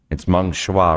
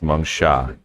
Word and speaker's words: Meng Sha: I said, it's Meng Shua, right? And she's like, you're very close. It's Meng Sha.